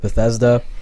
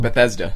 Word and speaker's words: Bethesda: Bethesda. Bethesda. Okay. It's pronounced exactly how it looks.